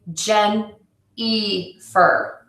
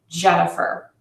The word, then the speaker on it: Jennifer: uh sound people say gen e fur so I know that my name is spelled with an i but it's pronounced with that short uh Jennifer so to fix it